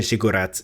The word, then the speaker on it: ziggurat: So I'm really heavily pronouncing the U part. Ziggurat.